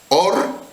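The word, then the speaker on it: אור: eh formas de pronunciarlo se pronuncia igual pero significa diferente or que significa luz pero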